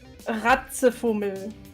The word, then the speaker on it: Ratzefummel: With an L at the end.